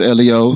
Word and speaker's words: L.E.O.: My name is L.E.O. It's 3 letters. Pronounce those letters. L-E-O. L-E-O.